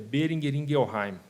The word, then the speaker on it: Boehringer Ingelheim: E falando um pouquinho sobre o nome, é Boehringer Ingelheim. Você me perguntava como é que pronuncia.